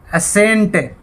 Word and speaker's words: ascent: आगे देखते हैं सी कब साइलेंट रहता है। देखिए ASCENT, असेंट।